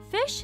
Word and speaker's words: phish: Fish is pronounced just like it's spelled, which is to say like the word fish.